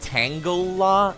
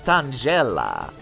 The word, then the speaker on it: Tangela: It's not pronounced Tangela. No, it's Tangela or Tangela.